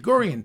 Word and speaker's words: Gurian: you pronounce it gurian it's a very simple as grian a hard G A Hard D certain letters are very